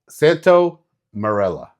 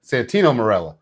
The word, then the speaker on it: Santino Marella: It's going to be uh Santo Marella. Santino. Santino Marella.